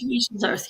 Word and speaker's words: diatomaceous earth: Diatomaceous earth.